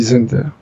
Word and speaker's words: Zender: P: I read Zender. He tells me it is pronounced that way.